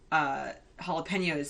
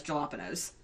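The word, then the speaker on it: jalapeños: commercial is that um morty pronounces jalapenos as jalopy nose yeah I know he pronounces them weirdly I put any jalopy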